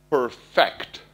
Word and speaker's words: perfect: go pick off perfect in Italian they're pronounced the same but English think of perfect the verb not perfect the objective perfecting your work is